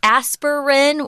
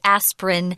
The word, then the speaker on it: aspirin: of these words where we have a pronunciation aspirin which sounds like three syllables or you can just say aspirin they're both correct it's like interesting and